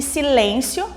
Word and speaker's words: silêncio: E silêncio, silêncio. Silêncio também, a sílaba mais forte é o lém, que é composta por uma consoante, vogal e uma consoante.